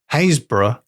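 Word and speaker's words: Happisburgh: old dog turns up is called hazb oh yeah but it's spelled like exactly like the name hapsburg that's a thing that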